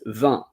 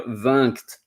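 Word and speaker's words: vingt: So the last one is 20 which is v and also you notice it's really rare that I hear vanked. It's even um I never heard that that vanked. It's v the g is silent.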